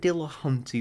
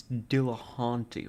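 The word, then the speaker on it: Dillahunty: entertain especially with Matt Dill Hunty why is that name familiar to me why have I heard that name before and why do I know that I'm pronouncing it wrong it's Dill haunty right d d I've heard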